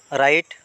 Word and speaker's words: রং: silent বর্ণ হয়েছে রং রং মানে ভুল ইয়াতে ডব্লিউ বর্ণ সাইলেন্ট বর্ণ হয়েছে তারপরে ব্রাইট ব্রাইট মানে